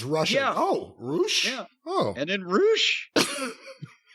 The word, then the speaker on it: Rush: comes the debut of Rush. But they were calling him Roosh. But it's spelled R-U-S-H.